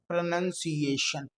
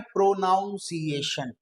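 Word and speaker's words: pronunciation: रहेगा focus on द प्रोनंसिएशन इसको लोग गलत बोलते हैं इसको बोलते हैं प्रोनाउंस एशन ओके लेकिन प्रोनाउंस एशन नहीं है ये देखिए एक लैंग्वेज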